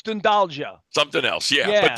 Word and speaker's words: Dundalk: And then we cruised to the west coast, and there it is, Dundalk, Ireland. Although my son says that's not how you pronounce it in Ireland. It's It's doing Dundalja. something else. It's Dundalja.